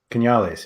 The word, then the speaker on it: Canales: to own a and i'm gonna butcher the pronunciation but canales canales yeah there you go i've always wanted to